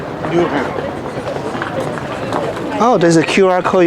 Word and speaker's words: Nyhavn: Nyhavn. Nyhavn.